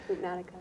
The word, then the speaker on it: Hoopnotica: Cindy is a licensed massage therapist, certified yoga instructor, licensed Hoopnotica, did I pronounce that correctly? Hoopnotica.